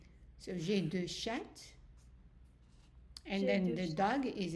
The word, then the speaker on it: chats: So we're not pronouncing the T, we're not pronouncing the S. So j'ai deux chats.